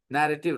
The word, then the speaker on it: narrative: you tell okay narrate narrative writing when I say narrate when then I say narrative the pronunciation changes slightly no narrate but narrative